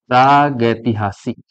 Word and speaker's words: प्रागैतिहासिक: तो आप लोग बोलेंगे इसको प्रागैतिहासिक।